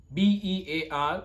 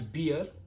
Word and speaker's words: bear: Bear. I know many of you pronounce this word as beer, but no, this is not beer, it's bear.